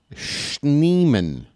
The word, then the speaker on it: Schneemann: Daniel Schneemann. That's a long last name for just 2 syllables.